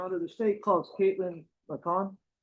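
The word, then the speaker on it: McCaughan: So, I do apologize because it looks like it reads differently, but it's uh McCon, correct?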